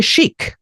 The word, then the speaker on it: chic: Next ওয়ার্ডটা হচ্ছে শিক, মানে ফ্যাশনেবল, CHIC। এখানে CH এর উচ্চারণ হচ্ছে শয়ের মতো।